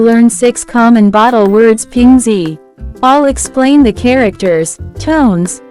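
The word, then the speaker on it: 瓶: Let's move to second character which can be pronounced as ping. Pronounce with second tone.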